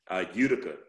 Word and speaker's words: Utica: in his hometown of, pronounce that for me. Utica. Utica, Mississippi. I'm sure some people say to you Utica, don't they? Utica, all kind of stuff, but yes, Utica.